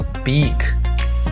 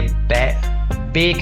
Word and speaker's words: beak: डिप हिज बीक, ये बेक नहीं है, बैक नहीं है, ये है बीक।